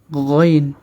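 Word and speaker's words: غ: আইন এরপরে হরফটি হচ্ছে গাইন খ যেভাবে আমরা উচ্চারণ করেছিলাম ঠিক সেখান থেকে উচ্চারণটি হবে গাইন গাইন গইন তারপরে হরফটি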